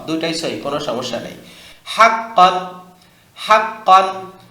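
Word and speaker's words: حقًّا: সহি কোন সমস্যা নাই হাক্কন হাক্কান হা কফ জবর হাক্ক দুই জবর কন হাক্কন একসাথে হাক্কন কি উচ্চারণ হাক্কন আবার হাক্কন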